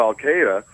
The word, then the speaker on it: Al Qaeda: what you say to Al Qaeda I'm scared about what al- Qaeda says alqaeda by the way is the correct pronunciation Carry On You Al